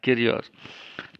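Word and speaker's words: κύριος: Jadi bunyi ucapan cara membacanya Kyrios. Jadi huruf yang mirip U itu tidak karena dia mirip U maka dibaca U. Tidak seperti itu ya. Oke. Huruf-huruf kecilnya itu baru muncul belakangan. Tapi dalam bahasa Yunani kata ini sebenarnya diucapkan I ya, I.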